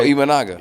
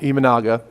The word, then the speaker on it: Imanaga: the guy on the I always say his name wrong the guy who's got like a point eight yard oh imaga imanaga yeah you don't need to throw a billion